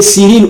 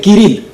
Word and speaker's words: Kirill: par le patriarche Kirill, on peut l'appeler Cyril ou Kirill, ça s'écrit de la même façon, mais sinon on l'appelle Kirill.